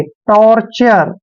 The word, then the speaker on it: torture: और देखिए TURE को आपने हमेशा चर पढ़ना है, चर, ऐसे टॉर्चर।